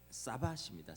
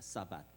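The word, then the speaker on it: שבת: 여러분 안식일은 그 히브리어로 이제 사밧입니다. 사밧. 이 히브리어 사밧에서 파생돼서 영어로 세버스라고 발음을 하는데 세버스데이 안식하다 이런 뜻입니다.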